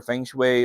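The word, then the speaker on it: feng shui: mga yoga yung mga feng way fongo an pareho lang yan pungsoy or feng shwe or ano man yung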